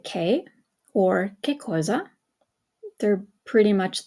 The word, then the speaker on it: che: you can either say k or kza who is key okay remember it's a hard I I'm sorry it's a hard C Sound because you have the H in there so if the H